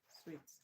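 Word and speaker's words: suite: Sweets. Good. S I T is pronounced sweet. The same way you pronounce sweet.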